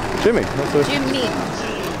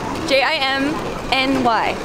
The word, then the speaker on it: Jimny: it Jimmy Jimmy Jimmy ji m NY Jimmy that's not up Jimmy no it's jiminy GMC makes Jimmy's that's a Dookie Chelsea told me I read the name wrong and it's Jimny like chimney I don't know man